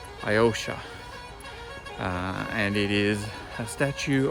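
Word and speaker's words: Alyosha: We're going to a monument, a statue up the top called Iosha, I think is how it's pronounced. Iosha.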